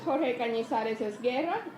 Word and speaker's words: Jorge Cañizares-Esguerra: Our first speaker is Jorge Cañizares-Esguerra, and that's how you pronounce it, in case you're...